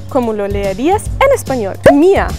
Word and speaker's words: mir: Mia, la R al final como una A. Mia.